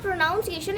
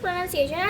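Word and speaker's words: pronunciation: इट इज़ नॉट प्रोनाउंसिएशन। इट इज़ प्रोनंसिएशन।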